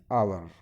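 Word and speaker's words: hour: एन आवर, एच, अब H silent है यानी कि एच को क्या है, इग्नोर करना है।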